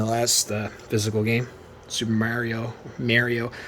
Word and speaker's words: Mario: I say Mario because it's Mario, not Mario. Rich Review Tech USA, you gotta fix your pronunciation, dude. It's Mario, not Mario. I have no idea why he says Mario, but it's Mario. It's Mario, guys. Mario Odyssey.